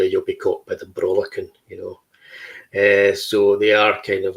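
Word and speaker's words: Brollachan: A Brawlachan is a Brawlachan. Yeah, so it's a hard C with the CH.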